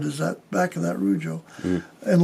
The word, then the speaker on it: Rujo: Rujo, pronounced Ru, R-O-O-Ho, H-O, is the Spanish word for roar.